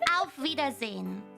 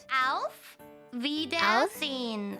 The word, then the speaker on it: Auf Wiedersehen: Auf Wiedersehen. Auf Wiedersehen. Zine. Oh, zine. It's like more like a Z.